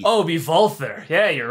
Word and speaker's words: Walther: I also think it's Walther, but whatever. It's a bunch of German guns. Because W's in Germany, in German language, are pronounced as a V. Oh, be Walther.